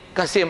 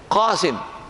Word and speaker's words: Qasim: Ahmad oh betul ni kassim Ahmad itu Melayu macam orang putih sebut this magrehong botol punya botles oh betul dia punya pronunciation tu qasim bukan Kasim sikit saya sebut tu